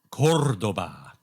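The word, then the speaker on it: Córdoba: So, but apparently it's pronounced Cordoba, and they have this castle there.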